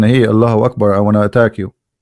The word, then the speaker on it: Allahu Akbar: So when a Muslim, he says Allah, you notice he pronounced something. He say Hu Akbar, correct? Hu Akbar. But when they say it, but they don't write it. Hu Akbar. Allahu Akbar.